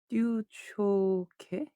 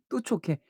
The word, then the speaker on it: 뚜초케: 뚜초케. 뚜초케. 어. 듀초케. 스초생이랑 섞였어. 뚜예요. 뚜래요. 뚜레쥬르고 듀레쥬르는 아니잖아. 뚜레쥬르 뭐라는 거야. 뚜레쥬르잖아. 뚜레쥬르. 그러니까 뚜초케네 뚜초케. 자 퓨즈들 뚜초케랍니다. 뚜초케. 뚜레쥬르 초코 케이크.